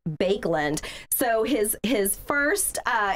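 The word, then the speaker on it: Baekeland: k e l a n d but it's pronounced bakeland so his his first uh invention he called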